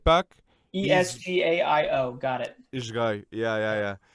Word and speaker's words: Esgaio: He's Esgaio.